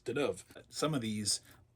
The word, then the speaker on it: Deneuve: I used to pronounce it Deneuve. That's been hard to break because it's Deneuve.